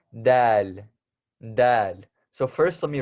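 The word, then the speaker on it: د: For the people who are Desi, Indian, Pakistani, Bangladeshi, or whatever you may be, this is not dal, like dal chawal.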